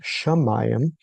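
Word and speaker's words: שָׁמַיִם: So here is Hamayam which uh the heavens is pronounced Shamayam and then he divides the waters from the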